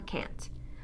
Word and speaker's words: can't: you that's stressed a the long a is what makes the difference rather than listening for a tea from now on listen for how the a is pronounced and you will know whether it's can or can't of course if you